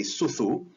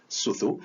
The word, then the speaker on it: sucu: From the Malay Indonesian area, speaking area, the further east you go, the weaker the S sound becomes. So in Polynesian languages, Fijian has a S, suthu, but once you reach Tonga, it becomes the letter a H sound, aspiration, huhu, and by the time you go to Hawaiian, it's gone completely. And so this is one